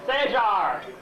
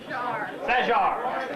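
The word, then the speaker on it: Sajhar: I will spell that. Sajar. I apologize. S-A-J-H-A-R. Sajar.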